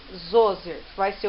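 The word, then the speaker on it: Djoser: Se escreve de Joger, mas se lê Zoser, que vai ser o primeiro faraó a construir pirâmide.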